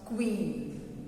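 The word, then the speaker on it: queen: कुछ लोग क्यून बोलते हैं, which is wrong, this pronunciation is wrong. क्यून नहीं होता, it's called क्वीन। क्वीन, but very often I have heard children using क्यून, नॉट क्यून, Q-U-E-E-N, नॉट क्यून, इट इज क्वीन।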